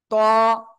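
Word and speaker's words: ط: ত। জিহ্বার আগা সামনের উপরে 2 দাঁতের গোড়ায় লাগান, লাগিয়ে উচ্চারণ করতে হবে।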